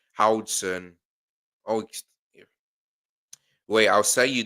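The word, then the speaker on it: Huijsen: Dean's lost last name is pronounced Howson.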